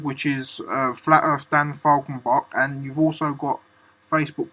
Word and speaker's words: Falkenbach: It's pronounced Falcon, the bird, Bach, the conductor, yeah. Falkenbach.